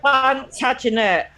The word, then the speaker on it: Plantagenet: Plantagenet.